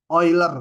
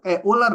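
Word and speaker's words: Euler: sama 1 disebut bilangan oiler bacanya bukan e uler ya Ini nama orang oiler bilangan oiler adalah bilangan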